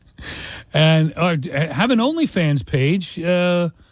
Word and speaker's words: OnlyFans: Okay, is it OnlyFans or OnlyFans? OnlyFans. Because I get in trouble with my kids because I put the emphasis on the wrong syllable. OnlyFans. No, it's OnlyFans. Okay, well, I don't say that. What do you say? OnlyFans? OnlyFans. That's probably the right way to say it, but the common way to say it is OnlyFans.